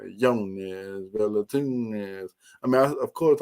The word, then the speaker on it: Jonas: It's Yones. You know what I'm saying? It's like a U, like a Yones, Velatunes.